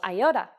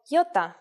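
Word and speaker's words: γιώτα: vowel that you may have heard called aota in Greek though it is called Y and it makes the sound e again this will look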